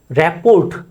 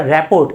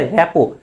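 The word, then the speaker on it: rapport: এই যে র্যাপোর্ট বলো তোমরা, র্যাপোর্ট, কিন্তু কি হবে? র্যাপো, র্যাপো।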